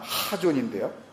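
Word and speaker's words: חזון: K와 H의 그 중간 정도 되는 그 강한 발음 하존인데요.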